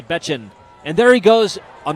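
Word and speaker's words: Bečan: yesterday, he said, "Oh, pronounced like Bitchin, only Bechin."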